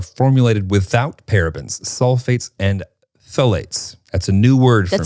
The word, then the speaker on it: phthalates: without parabens, sulfates, and phthalates. That's a new word for me. That's a new word, yeah, for both of us. Phthalates. Which is spelled with a PH first, which makes no sense.